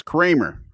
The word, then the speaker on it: Kremer: And but your family stuck with the original pronunciation and stood their ground and said, yes, no, it's Kramer.